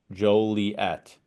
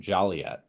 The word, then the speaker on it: Joliet: name of the city shall be Joliet the accent of the first syllable with o in the first syllable pronounce in its long sound as the words so no fo like Joe like that wrote the law because they're Tri tired of somebody vizard or mispronouncing the name and saying jolet who's ever said jol